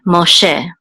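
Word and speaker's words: משה: So mo, and this sego says e, and this hey is silent. So this is she, Moshe, and this is Moses, Moshe.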